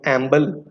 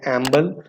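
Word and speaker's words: EMBL: European molecular biology laboratory database, जिसे हम एम्बल pronounce करते हैं, एम्बल, ये भी एक प्राइमरी डेटाबेस है, जीनोम सीक्वेंसेस को स्टोर करती है।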